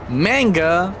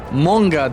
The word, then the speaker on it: manga: Not manga. It's pronounced monga.